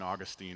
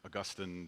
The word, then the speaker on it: Augustine: Anytime I go down this train of thought, it always brings me back to St. Augustine or Augustine, depending on how you pronounce it, where he said these words.